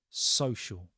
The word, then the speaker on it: social: on a social level social can sometimes be a bit of a tricky word to pronounce so so again like we're telling somebody to be quiet sh social and then it goes on